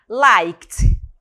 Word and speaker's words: liked: forma dele do passado liked liked pronúncia né sonzinho de T aqui né liked mesmo ca US